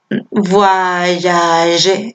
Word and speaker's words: voyage: Entonces, voyage. El verbo viajar suena voir, pero luego tengo que pronunciar la Y.